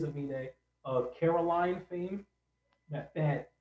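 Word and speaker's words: Aminé: I think it's supposed to look like anime because But he switched the M and the N. Yes. Gotcha. So it is Amine of Caroline fame.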